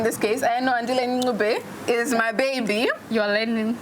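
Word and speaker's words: Ncube: Andile Ngube, can you tell I'm enjoying saying this name? I like the fact that you've learned how to say it. I was like Nchube at first. Yeah, it's the progress for me, darling.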